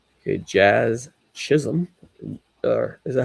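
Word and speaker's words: Chisholm: Jazz Chisum.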